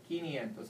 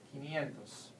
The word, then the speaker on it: quinientos: siento cincuenta another important one here is kinientos is spelled q u i quinientos these actually are two words another number that